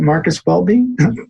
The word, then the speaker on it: Marcus Welby: marcus welby is that how you say it marcus welby yes i'm old enough to know it's marcus